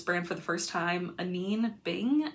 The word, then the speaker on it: Anine Bing: Anyway, I found this brand for the first time, Anine Bing, I believe it's pronounced.